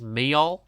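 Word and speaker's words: Meol: uh the last one on my list is me which is spelled m e o l which is like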